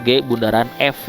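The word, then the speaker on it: g∘f: Ditulis bundaran, itu bundaran ya, 0 kecil itu bukan derajat seperti derajat, tapi di bawah itu sebutnya GOF itu, jadi bacanya itu G bundaran F ya.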